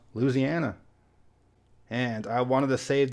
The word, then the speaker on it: Louisiana: people's pronounce this one Louisiana but a lot of the people that live there dropped the first I sound and pronounce it Louisiana so if the people